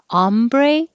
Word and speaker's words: hombre: it's ah ombre ah if it's spanish with an h it's ombre so you don't pronounce the h but that's how you know is it french or spanish hombre ombre humiliating this hu